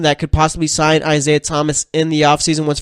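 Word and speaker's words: Tomáš: solder on skis at Thomas or is it Tomas alright it's spelled t om a s I think that's Tomas alright so Tomas solder on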